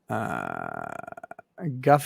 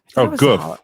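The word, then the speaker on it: גוף: Guff is a Hebrew word meaning bodies, chamber of bodies. Goof. That's goof. Goof. Yeah. Goof. Look, my Hebrew pronunciation is not solid.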